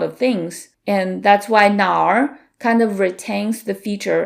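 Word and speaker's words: 哪儿: That's because it's technically na plus r and then we merge it into n.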